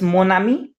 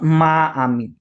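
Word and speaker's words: mon ami: So that's why it's monami and not maami. Okay. Maami is incorrect.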